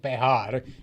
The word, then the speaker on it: Bexar: Sanchez I am it is called bear in Spanish because the J is pronounced like an H it's a bit complicated